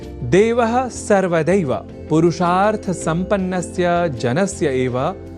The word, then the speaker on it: देवः: यहाँ देवः इस शब्द के उच्चारण में ए इस अक्षर का विशेष ध्यान रखे जाने की आवश्यकता होती है। अर्थात ऐ इस अक्षर का प्रयोग हमें नहीं करना होता, क्योंकि देव तो ईश्वर